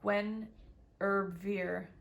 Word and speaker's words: Guinevere: all uh alleviate this about gwenevere pronounced gwen herber okay so i've sort of had it right this celtic triple goddess